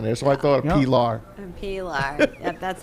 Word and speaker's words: Pilar: It was after like the first week of shows that he was like, why didn't anybody tell me that your name was Pilar, not Pilar?